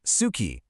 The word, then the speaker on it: suki: First, we have suki, pronounced suki, for like.